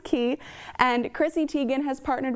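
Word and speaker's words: Quay: The pronunciation is a little tricky, but it is pronounced Key.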